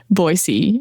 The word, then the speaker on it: Boise: is definitely for you M because she put Boyisey and she put in brackets boyisey how to say it and I've been to Boisey though so I know all about Yeah. Boisey Idaho.